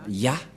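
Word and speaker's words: יה: C'est clair, d'après cette explication, et personne ne peut contester que c'est bien Ya, la prononciation.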